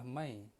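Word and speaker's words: میں: Kalau kita nak bahasakan diri saya, maka dalam Urdu adalah mai, iaitu M-A-I. M-A-I. Dalam bahasa Urdu, ejaan dia mim, ya dengan nun gunnah.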